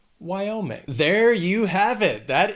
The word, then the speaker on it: Wyoming: Also has 3 syllables, and the stress is on that second syllable, Wyoming. Wyoming.